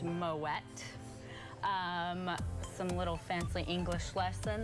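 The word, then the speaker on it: Moët: is called an umlaut moet the name is originally Flemish not French so which is a hard T at the end moet not mo a West so we like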